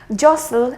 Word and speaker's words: jostle: it will be wrong jostle and not just oh you need to take